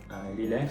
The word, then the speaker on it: Lillet: Am I pronouncing that correctly? Lillet, so.